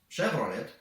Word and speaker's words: Chevrolet: Chevrolet, or as Israelis pronounce "shevrolet", is the only US car on the top 10 list, ranking at the 8th place.